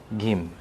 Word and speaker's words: Kim: apenas I também temos o sobrenome Kim que a pronúncia na romanização revisada seria Gim E também o sobrenome